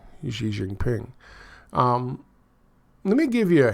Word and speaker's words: Xi Jinping: And yes, it's Xi Jinping.